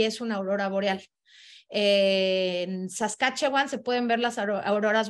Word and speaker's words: Saskatchewan: escribe la provincia y Cómo se pronuncia se pronuncia saskatchewan y Qué significa este nombre tan raro Pues